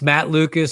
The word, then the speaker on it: Matt Lucas: Hey, it's Matt Lucas. Sounds like it's spelled.